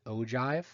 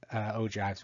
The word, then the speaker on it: ogive: next one is a bit of an odd pronunciation it's called an ogive and this is a graph that's showing the